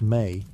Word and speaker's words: me: the divine powers called me pronounced may to humanity.